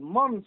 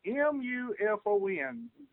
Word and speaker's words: MUFON: But it's called MUNFO, or it's spelled M-U-F-O-N. Y'all pronounce it the way it's actually spelled.